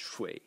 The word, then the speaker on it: 水: The semantic element, this thing over here, when you write it as a standalone character written like this, and it's pronounced 水, and it's water.